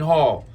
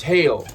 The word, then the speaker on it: Hail: wrong this whole time it's not Wayne Hall so I apologize like it's not Robinson it's Robertson it's not Hall it's hail so Mr Mr Wayne